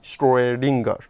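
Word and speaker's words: Schrödinger: equation is called as Schrodinger equation. You see that there are two dots on top of O. This is called O umlaut, and it is pronounced as if it is OE. So, SCHROE, Schrodinger.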